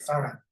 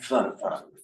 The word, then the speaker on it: farang: Farang, yeah. Farang. Farang. So it's close, Farang, Mm, close enough yeah.